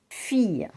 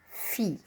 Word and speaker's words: fille: Fille, la fille, and not fille. So I-double-L-E is pronounced E.